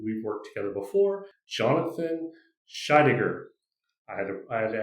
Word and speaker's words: Scheidegger: And today we are joined by a good friend of mine who we've worked together before, Jonathan Shaidiger. I had I had to ask him how to pronounce his last name, so I said it correctly.